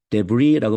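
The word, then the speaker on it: debris: 뭐를 확실히 했냐면 그들이 자 이거는 s를 발음하지 않아요 데브리라고 발음을 하죠 흔적 잔해 그래서 자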